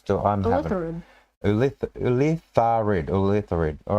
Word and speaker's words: Ulitharid: Okay, Ulithards. I'm having... Ulitharid.